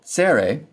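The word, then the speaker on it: צֵרֵי: The long e vow sere appears as two horizontal dots under the consonant and is pronounced like the e in they.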